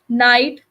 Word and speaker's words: night: So in words like daughter, night, thought, GH is written, but it is not pronounced.